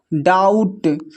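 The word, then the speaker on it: doubt: यहां पर देखिए डाउट। डाउट में जो है बी साइलेंट है।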